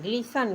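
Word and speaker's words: glisten: अक्सर उसी तरह से जी एल आई एस टी ई एन ग्लिसन ग्लिसन means चमकना आगे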